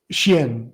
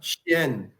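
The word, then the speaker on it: 仙: Xian. Yep. Xian. Okay. Yeah. In the pinyin, it's Xian.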